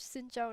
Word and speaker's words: Xin Zhao: different ways to pronounce his name. Xin Zhao is the correct one.